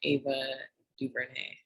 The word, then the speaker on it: Ava DuVernay: So today we're gonna do a breakdown of the movie, the documentary The 13th, directed by Ava DuVernay.